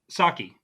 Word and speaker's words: Psaki: Had Chloe as press secretary Jen uh, Saki. Psaki. Yeah, I was blanking on the pronunciation of her name.